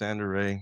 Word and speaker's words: Zander Ray: it's Zander Ray. Now I get it. It's on the bay. It's corny. It rhymes. You can remember It's it. good. I like it. So Zander Ray on the Bay.